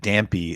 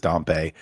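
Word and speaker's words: Dampé: I never knew I I said dampy until they released this new trailer and now apparently it is dumpe but I'd never heard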